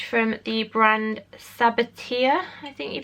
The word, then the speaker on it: Sabatier: And it's from the brand Sabatier, I think you pronounce it. Sabatier, I think it is.